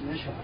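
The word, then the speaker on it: Mischer: My last name, my God-given name, is Misha. Can you spell that for me?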